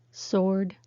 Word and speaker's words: sword: all silent w words be careful with these three words answer sword two don't say the w so why is it